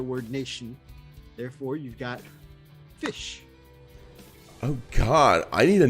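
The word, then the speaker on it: ghoti: and it's mr fish so it's spelled g-h-o-t-i but it's pronounced fish yep there's a an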